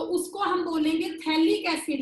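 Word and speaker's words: phthalic acid: जब आपका बेंजीन की 1 और 2 पे होगा COOH, तो उसको हम बोलेंगे थैलिक एसिड। यहाँ भी पीएच साइलेंट है।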